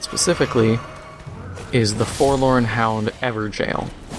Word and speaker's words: Evergaol: of people mispronounce it ever gal and stuff like that it's evergel is a very old way of saying it or at least the spelling gaol all right so we